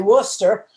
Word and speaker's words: Worcester: And then there's Worcester, and that's really Worcester.